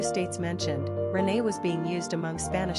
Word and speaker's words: René: Pronunciation, Renay.